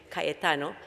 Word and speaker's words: Cayetano: I'm here on behalf of Cayetano Heredia University, and I hope that you eventually learn how to say it, Cayetano, which is the leading university in health issues in Lima, Peru.